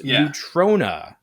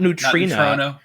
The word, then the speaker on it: Neutrona: So it's Neutrona, not Neutrino, which I think we are too used to the characters from Ninja Turtles cartoon, the aliens, the neutrinos or whatever. I mean, I think I've always pronounced it neutrino. Yeah. So, but it ends in an A, so it's Neutrona.